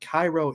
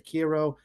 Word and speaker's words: Kairo: And that is the 2001 film, I think it's pronounced Cairo in Japanese or Kiro.